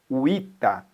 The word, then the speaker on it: vita: Então, a palavra vita, você pode encontrar escrito e lido assim, ó, uita. Onde tem V, se pronuncia U, tanto na pronúncia quanto na escrita.